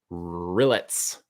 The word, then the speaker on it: rillettes: Of course, it's French, and it's Rillettes. Rillettes. That's how you spell that one.